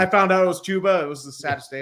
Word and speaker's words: Chuba Hubbard: It's like saying you think Chuba Hubbard is pronounced Chubba Hubbard, and Oh, then when yeah. I found out it was Chuba, it was the saddest day of my life.